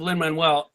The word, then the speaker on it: Lin-Manuel: Well, that's and by the way, speaking of Lin-Manuel, rhymes with Mando.